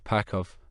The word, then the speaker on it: PCV: Army identification numbers and the letters PCV, Pakov, as the little Goanese pronounced the acronym.